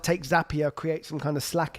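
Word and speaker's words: Zapier: create like a zap or zapia that's how they say it zapia happier that's how you say it but if you were to like take zapia create some kind of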